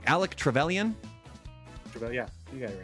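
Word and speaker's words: Alec Trevelyan: I always get the name wrong. Alec Trallion.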